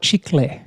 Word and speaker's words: chicle: I pronounce the CLE as kul, Yeah. but it's chicle.